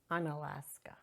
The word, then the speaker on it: Unalaska: How do you pronounce it? Unalaska.